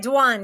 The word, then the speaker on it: Dwan: Hey, is it Dwan? Is that pronounced it right? That's right. Dwan.